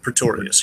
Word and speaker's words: Pretorius: This is Pretorius, right? That's how you say his name? Yes, Pretorius, yeah.